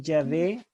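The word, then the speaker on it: Yahweh: la verdad es que ya ve es la mejor pronunciación del nombre divino el está el estado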